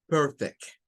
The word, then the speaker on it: perfect: Well, but if we are going to use this word like a verb, we have to use for this part, for the first syllable, the schwa, her. And for the last part of the second syllable, we are going to use peck, perfect, perfect, perfect, perfect, perfect. It's a little difference, but it's important to know.